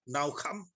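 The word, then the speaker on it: נִחַם: Kata menyesal dalam frase ini, maka menyesallah Allah, berasal dari kata bahasa Ibrani, tentu saja karena ini dalam Perjanjian Lama, yang dalam pengucapannya adalah naukam.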